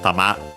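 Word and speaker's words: たま: Uh and yeah, literally it uh we have a tama which means uh actually accented tama uh on the last syllable ta high uh which means ball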